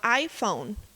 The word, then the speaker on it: iPhone: falar desse nome específico tem que lembrar que são duas palavras ai e phone então As duas são estresse Label são sílabas tônicas então o iPhone As duas são fortes porque uma palavra composta